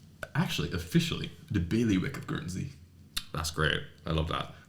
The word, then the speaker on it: Guernsey: Guernsey. Oh. Guernsey, yeah. Yeah. Actually, officially, the bailiwick of Guernsey.